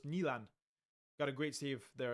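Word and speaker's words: Nyland: By the way, Nand is pronounced closer to Nan, not Nland.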